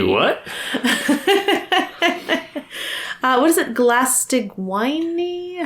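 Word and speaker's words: Glaistig Uaine: Glastigwine? How do you say that? I say Glastigwenye. Wenye, thank you.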